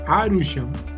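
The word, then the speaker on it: アルション: la serie se llamaba Alcyon, o como lo se pronuncian en japonés, Arushon.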